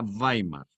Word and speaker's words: Weimar: comunicación en weimar que se escribe con doble uve gamer se pronuncia weimar una ciudad cultural y